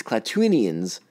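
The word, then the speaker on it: Klatooinians: Jesus, I'm going to say this wrong all the time. It's Klaatuinians, and I already said it wrong once.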